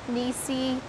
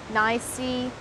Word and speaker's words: NiSi: i've just realized that i might be pronouncing nisirong nisi nicey nisai i guess it's a bit like nikon nikon canon canon apple